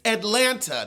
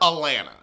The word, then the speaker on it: Atlanta: It's Atlanta, not Atlanta.